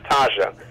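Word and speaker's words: Thaha: His name is spelled T-H-A-H-A, and it's Taja.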